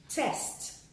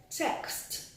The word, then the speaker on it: text: to buttress my point someone may say test test test book and then someone says text text and this is the right way to say that word text there is a